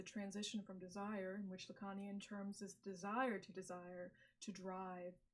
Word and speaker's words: Lacanian: to exemplify the transition from desire, in which Lacanian terms is desire, to drive, and enjoyment through failure.